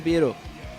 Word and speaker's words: Pierrot: Pero, puta, que dice japonés, dice Piero, se pronuncia Piero.